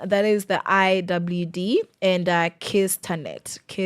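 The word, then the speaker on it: KICTANet: ahead of the IWD, we have KICTA net Kiss Tanet is how it's pronounced, even though, that's weird.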